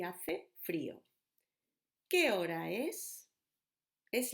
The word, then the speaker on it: hace: Hoy está nublado y hace frío. ¿Qué hora es? Es la una en punto. O son las 10 en punto. Just to remind you, J, junio, remember? Hace, silent letter.